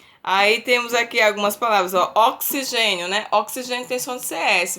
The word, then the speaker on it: oxigênio: com CS né Aí temos aqui algumas palavras oxigênio né oxigênio intenção de CS mas se escreve com X é excursão excursão tem som